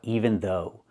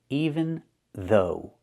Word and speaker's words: even though: Now let's talk about even though. Pronunciation. Even though. Use the th sound, v, like in mother and father, and the long o like in no and go.